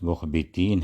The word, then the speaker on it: مخبتین: لفظ آیا تھا مخبتین۔ یہ لفظ سبقت لسانی سے کہہ لیں یا بے خیالی میں اس کا تلفظ غلط ہوا تھا، یعنی اس کے تلفظ میں مجھ سے غلطی ہو گئی تھی، تو یہ لفظ مخبتین ہے۔ سامعین کرام سے درخواست